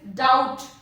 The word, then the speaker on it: doubt: Doubt and not doubt. It is the B is silent here. Letter B is silent here. It is doubt.